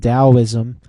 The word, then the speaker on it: Taoism: things like Confucianism and Taoism and that that's pronounced like a D and then if you